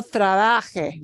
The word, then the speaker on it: trabaje: And so you want to make sure you punch the second to last syllable, right? Second to last. No trabaje, don't work.